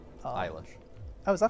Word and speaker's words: Eilish: Billie, like Elish. Eilish. Oh, is that how you pronounce that?